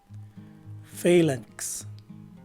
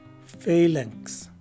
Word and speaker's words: phalanx: Lastly, a letter K is sometimes enunciated after the letter N, but is dropped by most speakers, and a letter S takes the place of the letter X at the end of the word. So the right way to say this word is phalanx.